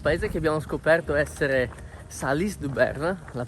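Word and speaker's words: Salies-de-Béarn: Ieri pomeriggio, dopo essere partiti da quel paese che abbiamo scoperto essere Salis-du-Berne, la pronuncia corretta, abbiamo camminato per circa 6 km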